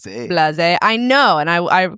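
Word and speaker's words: Blaise: I was wondering if it's pronounced Blaze or Blas. Blas.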